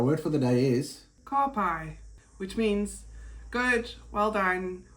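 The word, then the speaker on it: ka pai: easy way to pronounce it would be is car and pie. Car pie.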